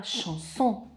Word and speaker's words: chanson: C seguito da H dà il suono SH, come nella parola chanson.